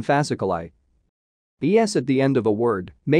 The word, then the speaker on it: fasciculi: I at the end of a word usually denotes a plural and is pronounced I, as in fasciculi.